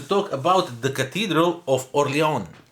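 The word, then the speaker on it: Orléans: about the Cathedral of oron oron or oron how I think the S is not pronounced as a friend of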